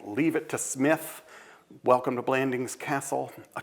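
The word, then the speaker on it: Psmith: watchfulness enlists the titular Smith. The P is silent by the way like pterodactyl.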